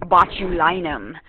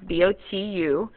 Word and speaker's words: botulinum: you have, is Clostridium botulinum. And I love that one because it sounds like my last name, Linum, right? But it's Clostridium botu, B-O-T-U-L-I-N-U-M.